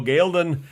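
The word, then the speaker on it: Ghealdan: a new location, and that is Gildon, or as they pronounce it in the show, Gaelden, or something along those lines.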